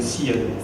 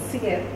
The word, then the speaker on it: Syed: SYED, if I'm pronouncing it right. The French pronunciation is the SYED. SYED.